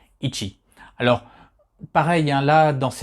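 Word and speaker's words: 一: ses prononciation chez dagana c'est ichi donc le i et le tchi ils sont les 2 2 2 hiragana ichi alors pareil hein la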